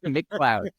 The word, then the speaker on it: McLeod: here and as he described it it is pronounced as McDonald's if they made rain so McCloud is with uh cororo cyber security I'll